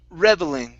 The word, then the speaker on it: reveling: This word here is pronounced reveling. So the stress is at the very beginning.